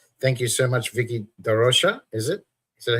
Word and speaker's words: da Rocha: So thank you so much, Vikki da Rocha. Is it? Is that how you Da pronounce it?